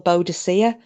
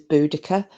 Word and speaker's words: Boudicca: um and then uh boudicca well buddha you might know of some people call a beaudacia but the the proper way to say your name is boudicca and about everything that